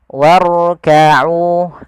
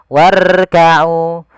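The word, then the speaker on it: واركعوا: untuk menebalkannya War War warkau dan hati-hati jangan sampai huruf ro itu takrirnya berulang kali contoh warkau warkauau nirroah itu misalnya nirro itu banyak kali getarannya cukup sekali getarannya warkaau Ar warkau kemudian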